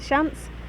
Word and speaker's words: Shiant: Lewis over there the shant Islands on the chart it's spelled s-h-i-a-n-t but it's pronounced shunt looking very green and